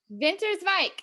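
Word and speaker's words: Winterswijk: as well so in winter spec is that how you say it winter spec winter's like vinter's mic okay so i i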